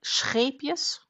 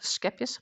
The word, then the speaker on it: Scheepjes: So like scheepjes, not schepjes, but scheepjes.